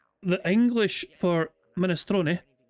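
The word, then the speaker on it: minestrone: The Italian pronunciation, ministron, not mini, it's ministron. But in American or English, you pronounce it ministrone. It's a silent e just like provolone.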